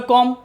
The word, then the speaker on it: comb: B silent. COMB, English में कॉम, Hindi में कॉम यानी कंगा, जिससे हम अपने बाल काटते हैं।